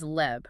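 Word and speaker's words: לב: The Hebrew word there is leb, pronounced l-e-h-v, which refers to the very center of human volition and will.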